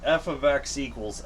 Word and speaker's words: f(x): F ofx= x.